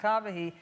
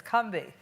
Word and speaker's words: Combahee: It's not Combahee, it's Combahee. And No. yes, it is. As people in South Carolina say it to this day, the Combahee River. But I say, well, we say Combahee because that's how black